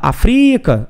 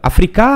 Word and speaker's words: África: chama a palavra África eu não posso falar África afric não posso fazer isso né então fica África a palavra Então foi